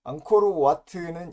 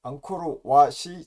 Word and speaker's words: 앙코르왓: 앙코르와트는 일본식 발음이고 앙코르왓이 정확한 발음이라고 합니다.